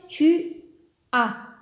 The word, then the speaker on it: tu as: alors g deuxième personne tu as tu as tu as donc le à s'écrit as mais le s est muet ne se prononce pas tu as il a